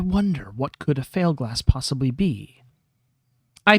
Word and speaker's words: Fieldglass: Pronounced like Failglass, not Fieldglass, he adds, unnecessarily, since we just heard him pronounce it wrong.